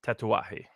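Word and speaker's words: Tatuaje: of the Miami operations it's spelled tattoos it's uh pronounced tatawahi okay and then there's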